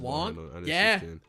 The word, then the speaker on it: Wong: It's pronounced Wong. Yeah, it's pronounced Wong, not Wang.